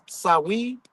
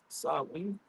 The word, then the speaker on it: Samhain: The ritual we embrace as Halloween was originally called the Feast of the Dead, Samhain, or pronounced Samhain or Samhain.